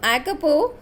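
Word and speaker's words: Jacopo: Here J is silent. So Acopo, who barely came up to the door handle of the car, was nearly 12.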